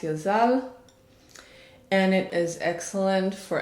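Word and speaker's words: יזל: name is number thirteen it's yud zain lamed pronounced yazal and it is excellent for anyone who feels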